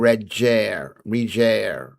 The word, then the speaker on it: Reger: A hard G and reger.